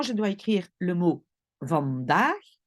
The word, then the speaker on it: vandaag: Donc, par exemple, si moi je dois écrire le mot vandaag, vandaag, j'écoute bien, le premier A est court, van, daag.